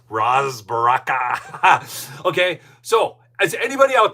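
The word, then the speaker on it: Ras Baraka: Now, a lot of you are probably saying, "Wait, they should charge Ros Baraka." That's how you say his name. Ros Baraka.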